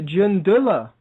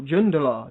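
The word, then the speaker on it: Jundallah: has admitted to funding jundullah or jundel depending how you want to pronounce it which is an Iranian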